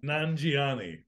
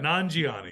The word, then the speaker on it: Nanjiani: one and that's Kamil nanjiani okay I think I'm pronouncing that right yeah non-gioni yeah yeah uh from